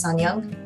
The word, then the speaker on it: Sunyoung: know, my name is Sunyoung. That's spelled like sun in the sky and the opposite of old. I also tell people that's how you pronounce it because people get confused.